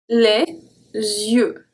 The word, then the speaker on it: les yeux: When we found Y at the beginning of a word, it's also going to be pronounced like the rolling E. So we have les yeux.